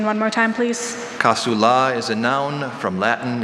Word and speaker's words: casula: The color of the casula varies with either the season or the occasion, being red, for example, on Good Friday.